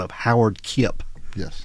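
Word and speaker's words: Kipp: the name of Howard Kip yes k i p p and like I said the second p is silent and the couple they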